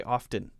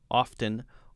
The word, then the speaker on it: often: I say often without the T, although a lot of people say often. So you can say either one, often or often.